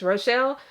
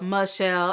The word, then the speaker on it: Rochelle: Of course, my name is Rochelle, but I get called Michelle.